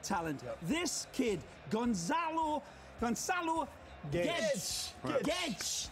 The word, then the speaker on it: Guedes: Guedes. That's how they pronounce it in Portugal, but we'll call him Guedes.